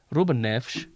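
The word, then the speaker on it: Rúben Neves: Because they pronounce S's as SH. So it's like Bruno Alves, Ruben Neves.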